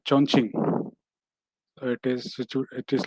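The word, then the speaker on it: Chongqing: uh it is uh you can pronounce the state as uh chonching so it is it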